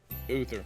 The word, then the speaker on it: Uther: How do you say Uther? Uther, that's right.